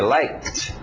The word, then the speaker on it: liked: de emoção like oh o passado são de T escrito Ed mas são de t liked k t liked my mother Lik the